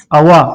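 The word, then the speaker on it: awak: अप खबर अप खबर अवा अवा अवा यहां पे भी के साइलेंट है सॉरी ए डब्ल्यू ए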